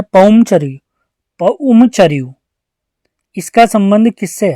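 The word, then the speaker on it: पउमचरिउ: राम कथा लिखी थी, जिसे अपभ्रंश में क्या प्रोनाउंस करते हैं? पौमचर्यू।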